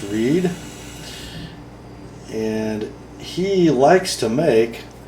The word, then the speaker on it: Read: And this knife is a collaboration between British part-time knife designer and full-time marine engineer Mike Reed, spells it R-E-A-D. I believe it's pronounced Reed.